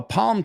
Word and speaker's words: palm: Fíjate, no pronuncio la L. I don't say palm. I say the palm. The palm. Es una L que está ahí, pero no pasamos por encima como.